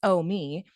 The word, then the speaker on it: Omi: woman's hands kneading dough Omi pronounce om me German for Grandma a silver-haired old woman